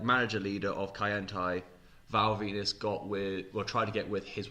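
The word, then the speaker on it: Val Venis: You say Rock, all I keep thinking of now is there was a storyline where this guy called Val Venus, because his name rhymes with penis, his finishing move was called the Money Shot.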